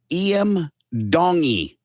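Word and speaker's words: Iam Tongi: And his name is Iam Dongi. I would change And the that. name is spelled Iamtongi.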